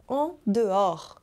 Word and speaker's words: en dehors: Eu dancei balé durante muitos anos e notei que aqui no Brasil costumam acertar a pronúncia do en dehors, que tem esse O aberto, en dehors, e muitas vezes erram a pronúncia do en dedans.